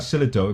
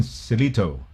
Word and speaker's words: Salito: salito bulldoggy screamer that's how you pronounce it selito that's it yeah salito it's not silito but celito all right me in